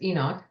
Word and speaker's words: Enoch: right way to say it of course is Enoch yeah while the other one is a jerk